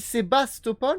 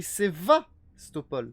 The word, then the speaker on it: Sevastopol: il est c'est alors tout le monde il sébastopol mais ça s'écrit sevastopol d'accord franchement il déchire